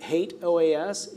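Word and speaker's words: HATEOAS: in years past I can assure you that hate OAS is the proper pronunciation of that if you don't want to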